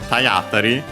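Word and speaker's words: 体当たり: Cioè, unsurprisingly, Tayatari, the accent becomes actually on the A, which is not surprising as that's actually a typical spot for the accent for compounds.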